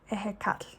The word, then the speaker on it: Ehécatl: a mammoth, and I'm going to say this name wrong, the Aztec temple to god Ehécatl. Ehécatl.